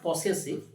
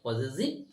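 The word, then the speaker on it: possessive: 2 নম্বর হচ্ছে পজেসিভ, উচ্চারণটা কি করবি, পজেসিভ, নট পসেসিভ, ইটস আ পজেসিভ।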